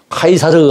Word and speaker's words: 카이사르: 시저는 영어식 발음입니다. 카이사르 하는 것이 바로 라틴어식, 로마식의 그 발음인데 거기서 나오는 말이 로마 황제를 다 가이사라고 하지 않습니까?